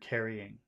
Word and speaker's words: carrying: yes two well yeah you're pronouncing it like there's two but there really are three syllables you're missing one syllable